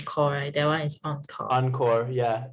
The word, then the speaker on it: encore: that one is on encore yeah it's from french that's why oh okay encore encore it means again